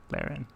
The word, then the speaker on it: Theron: i don't know uh my name is actually pronounced like the name darren thanks david appreciate you oh okay all right so theron oh look at that